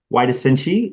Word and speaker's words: Huairasinchi: He is the race director of the Huairasinchi adventure race in Ecuador. Hopefully I pronounced it correctly, or at least close.